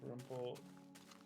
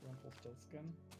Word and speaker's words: Rumpelstiltskin: Pronounced Rumpelstiltskin, not Rumpelstiltskin. Well, we're gonna say Rumpelstiltskin, and you're just gonna have to deal with it. Rumpelstiltskin sounds more Anglicanized. Or Anglicized.